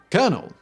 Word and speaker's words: colonel: Before we get into Dave Thomas's fascinating story, let's talk about why Colonel is pronounced Colonel, shall we?